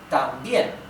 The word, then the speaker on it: también: In this case, también, it's this one, right? También, right? Because the stress in the intonation is in the last syllable, bien.